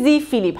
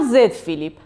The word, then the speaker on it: Z Flip: بریم سراغ دومی، گلکسی زی فیلیپ. هم زی فیلیپ درسته، هم زد فیلیپ، هر دوش درسته. یکیش حالا تلفظ آمریکایی، یکیش تلفظ انگلیسیه، چون اینو قبلا به من گفته بودین، گفتم بهتون بگم، حواسم هست.